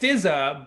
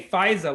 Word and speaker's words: Fizza: So Fizza, it's pronounced Fizza, but often people say Fizaa, like the vaccine, Fizaa. Fizaa, Fizaa. I get Fizaa a lot. It's not Fizaa.